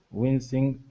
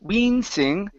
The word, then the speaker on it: wincing: the word wincing okay give me a short I instead of we wing wincing okay lower your tongue just a little bit more win wincing wincing okay try that out